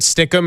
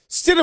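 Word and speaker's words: Stidham: You know, again with some of these mispronunciations after doing the Mad Dog Russo, Jared Stidum, Jared Stikum, it's like Stidum is not a hard name.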